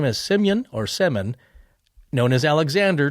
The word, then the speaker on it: Semyon: Semyon or Semen. Yes. Yeah. It is actually spelled like, we're not gonna, for the Americans, it's actually spelled like semen, but it's, I think Semyon or something like that.